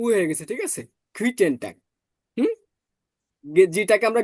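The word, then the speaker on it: Guten Tag: গুইটেন টাগ। হুম, জিটাকে আমরা গে ও, পড়ছিলাম, তাহলে এটা গ উচ্চারণ করেন।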